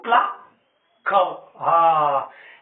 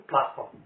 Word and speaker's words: plaçons: Nous plaquons. لأن السي devant on se prononce co. هذا هو الاستثناء. هنايا ضروري je dois ajouter la cédille pour prononcer nous plaçons.